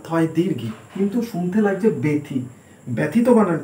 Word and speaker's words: ব্যথা: বয় জফলা থয় আকার ব্যথা, কিন্তু ব্র্যাকেটে যেটা রয়েছে সেটা হচ্ছে উচ্চারণ ব্যথা, এখানে এ উচ্চারণ হচ্ছে, এটা হচ্ছে উচ্চারণ।